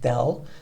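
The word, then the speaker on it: ∂: this symbol it's uh this symbol is called pronounced del so it's del over del x of f perhaps um other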